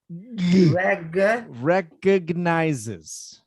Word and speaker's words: recognizes: little thing with pronunciation there's a g in the middle wreck recognizes regular okay no wreck with